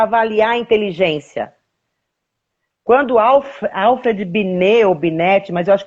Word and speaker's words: Binet: Quando Alfred Binet, ou Binet, mas eu acho que é Binet, né?